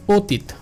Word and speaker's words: অতীত: যেমন দেখেন অতীত, অতীত এখানে শুরু হয়েছে স্বরে অ দিয়ে, শুরু হয়েছে স্বরে অ দিয়ে এবং তারপরে পরেই দেখেন একটা হ্রস্ব ই রয়েছে, হ্রস্ব ই এর শর্ট ফর্ম দেখেন রিকার রয়েছে।